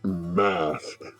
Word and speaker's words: Masque: i'll finish the intro we are doing miss mask which are okay actually spelled m-a-s-q-u-e but pronounced mess i looked it up um basically